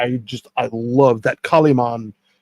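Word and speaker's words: Kalimán: The emphasis the last a right.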